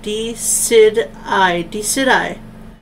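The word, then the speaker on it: Decidueye: I think I'm gonna pronounce D-Sweet-I? Oh, that was totally wrong. D-Sid-I.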